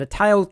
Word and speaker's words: Atayal: called Taiyazu in Chinese and Dayan in the Atayal languages. Throughout this video, I will be using the standard English pronunciation of this word, Atayal, unless I am citing or quoting Atayal people themselves.